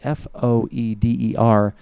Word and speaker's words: foeder: It's like Foeder? Folder without the L.